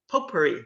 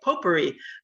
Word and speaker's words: potpourri: So tonight's Travel Talk is kind of a potpourri, that's how you say it, potpourri of topics.